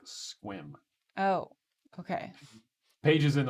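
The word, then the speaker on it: Sequim: markets also okay oh shauna says squim is pronounced like squim oh okay paige is in olympia as well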